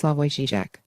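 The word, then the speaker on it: Slavoj Žižek: into slovenia's most famous son philosopher Slava jijic pronounced slavoy zijak jijic's unlikely career began with impenetrable tomes interpreting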